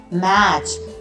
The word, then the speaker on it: match: Children, CH says ch as well as TCH says ch, as in match, as in batch. In this T is silent.